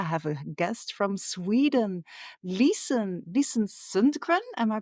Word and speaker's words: Lisen Sundgren: And today I have a guest from Sweden, Lisen Sundgren. Am I pronouncing that right?